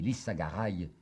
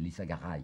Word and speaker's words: Lissagaray: très remarquable d'un ami lissagaray il la gare est peut-être prononcer je crois plutôt que c'est lissagaray qu'il faut dire ce n'est qu'à sa